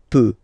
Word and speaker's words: peux: Final X not pronounced here, okay? So you've got X, but you don't pronounce it. So basically, you get the sound peux, peux, je peux. Okay, so I can, je peux, okay? Then, tu, tu peux, same pronunciation and same spelling or writing, okay? P-E-U-X, okay, don't pronounce the final X.